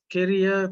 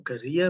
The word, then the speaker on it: Keria: i'm the principal at carrier primary or career primary whichever way you want to pronounce it we are situated in